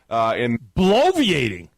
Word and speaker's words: bloviating: Bloviating? We're talking 4 syllables here.